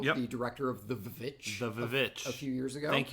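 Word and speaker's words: The VVitch: The Vivitch. A few years ago. Thank you for pronouncing it properly. Thank you for realizing that is the proper pronunciation for it. You put 2 V's in your title.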